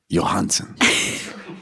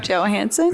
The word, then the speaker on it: Johansson: Johansson. It's Johansson.